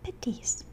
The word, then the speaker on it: petis: Indonesia has an East Javanese condiment called petis, pronounced similar to patis in Filipino, a paste made from